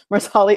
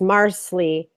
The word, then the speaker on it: Marsali: Marcelly isn't half that bad. There's a lot of love for Marsley. Yeah. They're saying it's Marsley Oh, sorry. rhymes with parsley.